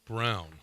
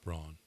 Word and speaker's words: Braun: Well, and it's Christian Brown. It's Brown. Yes. Brown. Not Braun.